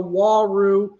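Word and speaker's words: Uaru: are known as the Waru Cichlid. A funny way of pronouncing Waru Cichlid is "who are you?" That could be a way you can remember the pronunciation of Waru Cichlid, "who are you?"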